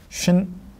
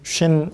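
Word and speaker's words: שין: 같은 글자인데 점의 위치가 여기에 있으면은 이건 쉬 발음이 되고 점의 위치가 이 왼쪽 끝에 있으면 신. 요거는 시옷 발음, 이거는 쉬 발음. 이거는 S 발음, 이거는 SH 발음.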